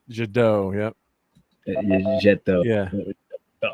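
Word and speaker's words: Jet d'Eau: God, I can't pronounce my my my French accent. Jado.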